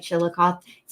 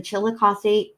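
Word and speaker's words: Chillicothe: it correctly but I I feel like chilos it's either chilosi or chilos I think it's chilosi an officer with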